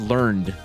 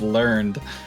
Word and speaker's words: learned: what a great idea it's pronounced learned um oh okay there you go yeah sorry uh just that's that there it goes out the window no wait it's pronounced learned as i champ at